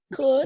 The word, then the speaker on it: could: help you if i could do it pronunciation we don't pronounce l could could yes very good okay